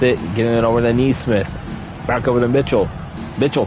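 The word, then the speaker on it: Nesmith: Neesmith, yes, that is how it's pronounced.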